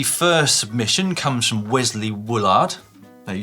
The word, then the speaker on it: Woolard: This week, the first submission comes from Wesley Woolard. No, you said... I thought Woolard. No, Woolard. Oh, no, you did say Woolard. I did think we've Woolard. just been discussing pronunciation of Woolard.